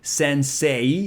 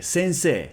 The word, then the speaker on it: sensei: it's s-n-s-e and so some people would say sensei sensei but it's actually a long e sensei sensei and in korean